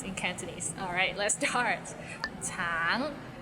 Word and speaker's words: 橙: 橙 it means orange, but some people might find it difficult because the end has a little ng, so it's a bit of nasal sound.